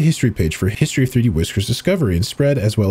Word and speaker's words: 3DWiscr: us prefer to use its file name and state pronounced 3D whisker in 3D workers Island